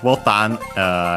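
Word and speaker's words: ボタン: After that, we have botan, again, unaccented, similar to English, but it's actually the Portuguese word botao.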